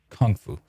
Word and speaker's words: kung fu: But I've heard Jackie Chan pronounce it as with the emphasis on kung, like kung fu.